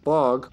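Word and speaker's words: Бог: Because in Serbian, funny enough, in Serbian, bog, or as we pronounce it, bog, means god.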